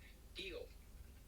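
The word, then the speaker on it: tío: Tio. T-I-O. T-I with an accent on top. Tio. Tio. Tio. Yeah. Like Dio.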